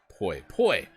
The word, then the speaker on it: poi: Kajito says, po rhymes with boy, poi.